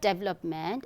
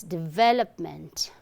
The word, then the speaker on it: development: Okay, so when you pronounce this word, your upper incisor touches your lower lip. Okay, div, v, not diva, w. It's not w sound, but v, v.